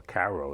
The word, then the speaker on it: Cairo: the point I'm making when they reach Cairo or Caro as they Koo as they pronounce it there Illinois they're supposed to